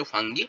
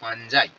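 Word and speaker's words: fungi: পাঁচখানা কিংডম বানালেন এবং পাঁচটা কিংডম তিনি বললেন যে নতুন একটা কিংডমকে অ্যাড করলেন যার নাম হচ্ছে ফাঞ্জাই। নট। অনেকে তোমরা হয়তো এইচ এস লেভেলে বলে এসেছ ফাঙ্গি।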